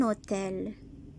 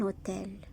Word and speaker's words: hôtel: Un hôtel. H ne fait aucun son ici. Un hôtel. Donc les enfants, le H au début d'un mot ne se prononce jamais.